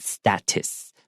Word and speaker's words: status: In English, a lot of times when there's a second T or T towards the end of a word, we actually make that kind of a light T.